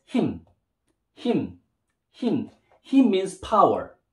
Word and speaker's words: 힘: And when you put the consonant mim, it'll pronounce as him.